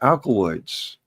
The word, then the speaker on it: alkaloid: And then I realized that we're growing alkaloids. Okay. All right. And alkaloid actually rhymes with alkaline, or it's part of alkaline.